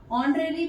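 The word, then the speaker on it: honorary: हो जाएगा मान देय ऑनरी भी होता है देखिए यहां पर एच है लेकिन ध्यान रखें कि ये ओ से इसको प्रोनाउंस किया जाता है तो यहां पर अगर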